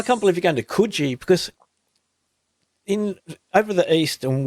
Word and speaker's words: Coogee: and we lived in Coogee for a while. And so I know to pronounce it Coogee. When you come to WA, it's Coogee. They pronounce it right.